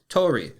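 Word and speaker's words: 鳥: Today's Lance's lessons is going to be the Japanese word for bird, and that is Tori. Tori is spelled Tori, and Tori is very relevant to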